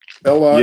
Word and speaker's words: Ela: Ela Yeah. is E-L-A, Ela. E is pronounced A in Yoruba. It's just like Spanish.